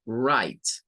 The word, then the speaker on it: write: I, es decir, la letra E no suena, pero le traslada un sonido largo a esta I que queda ahí entre la T y la E. Y por eso es que lo vamos a pronunciar como write.